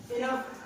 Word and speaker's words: enough: तो यहाँ पे एंडिंग में है, इसीलिए उसको उच्चारण या उनकी जो आवाज है, प्रोनाउंसिएशन कह सकते हैं, उसको साउंड जो है उच्चारण को करेंगे फ होगा।